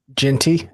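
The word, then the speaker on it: Jeanty: Genty, Ashton Genty.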